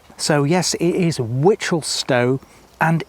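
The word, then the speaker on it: Wichelstowe: East, next bit word, are pronounced the same as the word witch. So yes, it is Witchelstow and East Witchel.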